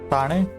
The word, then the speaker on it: Thane: As it's spelled as thin, but it's pronounced as Thane in Marathi.